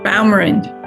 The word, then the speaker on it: Baumrind: How do you pronounce that last name? Baumrind.